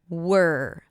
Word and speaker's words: were: The same quality of sound also appears in the word were. W E were. So, here it's the same sound. Can you hear it? Were work. But here it's spelled with an E. So it's not where the letters don't represent anything. You just have to listen to the sounds.